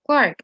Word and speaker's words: clerk: We have the word clerk or clerk as it's pronounced in British English.